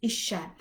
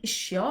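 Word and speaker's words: eisiau: to want something and the word is isha there's actually a different pronunciation in north wales it's more like issue but my north wales pronunciation is awful so in south wales it's like telling someone isht but instead of saying but instead of saying you put an e isha try it and again so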